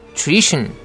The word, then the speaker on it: nutrition: nutrition. new 부분이 약간 길죠. 장모음입니다. new 하고 nutrition. tr 발음은 tree라고 해야 되죠. 트리 아니죠. nutrition 아닙니다. 그리고 또 한 가지 tion으로 끝나는 단어는 tion을 션으로 발음하고 스트레스는 tion 바로 앞에다 두지요. 여기서는 tree 할 때 re 부분에 강하게 스트레스가 들어갑니다. 그래서 발음이 nutrition 하게 되는 거죠.